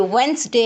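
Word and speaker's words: Wednesday: यह वेडनेसडे है। डी यहां पे साइलेंट होता है। डी की आवाज नहीं निकलेगी। डी की आवा आप नहीं निकालेंगे।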